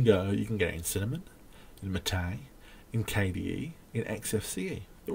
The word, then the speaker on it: MATE: Or you can have Mate, which is spelt mate, but they insist on being called Mate.